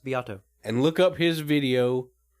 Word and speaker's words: Beato: guy named Rick beato spelled like Beto like beat like beat a drum and then an O at the end that's pronounced biato and look up his